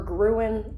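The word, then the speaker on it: Gruene: They call it Green or Gruen or something. I don't know. I think it's Green, but it's spelled weird.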